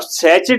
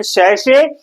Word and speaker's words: sachet: अब सैचेट बोल दोगे तुम मुंबई में तो हंसेंगे लोग। सैचेट, सैशे इसका मीनिंग है, प्रोनाउंसिएशन है सैशे, और जो बड़ा रूप